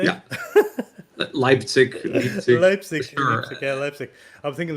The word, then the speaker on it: Leipzig: lip slick lipstick how do you say it leipzig lipstick okay lipstick i'm thinking that would be